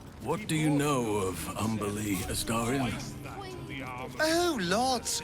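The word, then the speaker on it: Umberlee: What do you know of Umberly Astarion? Oh, lots. Rhymes with undersea, for one thing.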